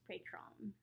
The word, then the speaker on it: Pretraun: His name is spelled Pretraun, and it's pronounced Pretraun.